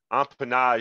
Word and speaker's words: empennage: Empennage, zh, zh. So the G makes the zh sound, right? So then we know that the last letter is silent. And the only way we know a letter is silent is we look here in the dictionary on the right-hand side to see that there's no sound for that letter E.